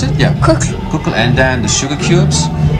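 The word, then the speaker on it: Kukl: play in cuckoo what's the how do you pronounce it yeah cook and then the sugar cubes which was more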